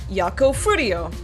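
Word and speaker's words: Yakou Furio: out it's actually pronounced yako fuo and there's a little bit of a there's a little bit of a roll to the r in fro so that's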